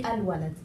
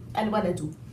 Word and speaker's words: الولد: I immediately say the lam and it's silent, but if I'm saying it as a word alone, it will be al-walad, okay? Al-waladu, okay?